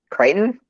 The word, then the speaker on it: Crichton: to the hype though who crickton creighton yes that is the proper way to say his last name but yes michael crichton